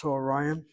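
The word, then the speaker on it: צָהֳרַיִם: Look at the way she vocalizes Soharayim. You have a kamatz katan underneath the tzadi, you have a chataf kamatz underneath the hey, and then you have the accent over the second to last syllable.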